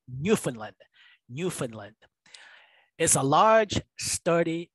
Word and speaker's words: Newfoundland: It's pronounced Newfoundland. It's not Newfoundland, although it looks like it's Newfoundland. All right, it's pronounced Newfoundland.